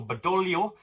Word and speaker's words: Badoglio: The king has appointed Marshal Badoglio in his place. I believe the G is silent, and has himself taken over the command of the army.